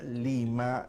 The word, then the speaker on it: Lima: De hecho, Lima es una palabra de origen quechua con pronunciación aymara. ¿Qué nos dice esto? Que Lima es andina desde su propio nombre. La palabra Lima es de origen quechua, ciertamente, pero está aymarizada. ¿Por qué? Porque el aymara tiene una regla muy interesante, ¿no? Era una lengua que no permitía, digamos, la pronunciación de la R en comienzo de palabra. Inmediatamente esa R se cambiaba a L.